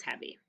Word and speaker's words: heavy: He-eh-eh. It's a short E sound. Hev-E. It's a long E at the end.